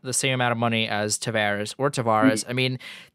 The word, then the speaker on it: Tavares: I mean it could it's up in Canada Samaras down here as Tavares I don't I don't know I think he's even said he doesn't care like so everyone has a different pronunciation I think he's like I pretty sure it's Tavares but you can call